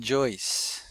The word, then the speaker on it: Joyce: So uh and this also Bowser and Joyce. So we got those two dips thongs in is always spelled o u as in out and about and joyce is oi as in voice and oil and join.